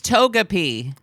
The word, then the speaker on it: Togepi: Taka- Taka- It feels like if we're To- mispronouncing Togepi. this, Togepi. It's Takamochi? Togepi. Is it racist that Is we it can't pronounce Takamochi? it? It's Togepi.